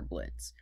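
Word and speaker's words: Blitzø: of the main character Blitz. The O is silent.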